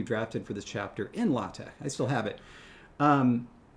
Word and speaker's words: LaTeX: Doug was and is an expert user of latt. Those of you within linguistics will know what latt is. Those who are not in linguistics won't know. At first, it's lx. You might have heard it pronounced latex.